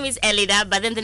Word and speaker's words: Elidah: No, actually, my name, Elida, not Elina. Oh, Elida. No, forgive me. I'm just reading as per producer's script. Yeah. So the name is Elida, but then the name of the restaurant is Twaala.